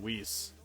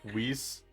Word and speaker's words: Whis: Honestly, I would love to see, abridged, Beerus and Whis.